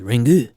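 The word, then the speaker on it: リング: in Japanese it's called Ringu.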